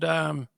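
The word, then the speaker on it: Whangamatā: But New Zealand, you're from a place called Whangamata. Is that That's how you correct.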